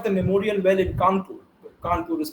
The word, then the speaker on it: Kanpur: Kanpur is pronounced as Kanpur by the Brits.